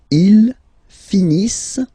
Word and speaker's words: finissent: Ils finissent. So remember, as usual, when we've got the verbs E-N-T not pronounced. Ils finissent.